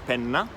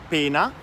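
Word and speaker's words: penna: example on for example the word for pen is pen now and has a double head right mm-hmm if you pronounce it like pina it becomes punishment okay that's a different thing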